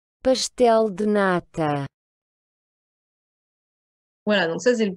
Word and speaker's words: pastel de nata: Et enfin, lorsque la lettre S est devant une consonne, ben, vous allez aussi prononcer le S comme un ch. Donc, c'est le cas, par exemple, dans le célèbre flan portugais. pastel de nata, Voilà, donc ça, c'est le premier son important.